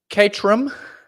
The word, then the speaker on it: Caterham: and debate me bro Caterham that's how the Brits say it catterham seven uh it's a